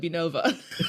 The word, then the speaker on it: Benovia: Benovia, but I call it Benova. Benova. Benova. And the I is silent.